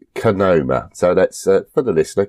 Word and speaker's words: Kohima: I think it's fair to say that Kohima is pronounced Kohima.